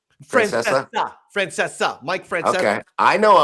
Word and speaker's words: Francesa: You're familiar no C? You don't pronounce Francesca? Francesa.